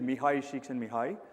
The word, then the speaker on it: Csikszentmihalyi: His name is Mihai Csikszentmihalyi. That's how you pronounce that name out there.